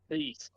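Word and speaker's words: Cease: it how do you say his last name CE CE Dylan CE okay uh Michael King and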